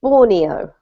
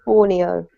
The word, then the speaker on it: Borneo: We pronounce the country in English Borneo, okay? Borneo.